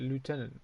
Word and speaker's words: lieutenant: Drop the I and you're dropping like that is common in America, and you get lieutenant, which I believe is the American pronunciation.